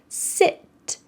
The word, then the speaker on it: sit: Well, it has a short I, sit.